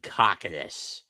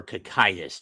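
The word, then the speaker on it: Cocytus: frozen in the depths of Cockadus or Kakitus depending on how you want to pronounce it.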